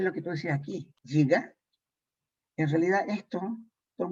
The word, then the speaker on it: giga: ¿Qué es giga?